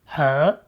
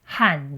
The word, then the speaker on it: 和: It's pronounced h meaning and which we use to connect two nouns like In Taiwan, more people pronounce it h then h even though both pronunciations are listed in the dictionary.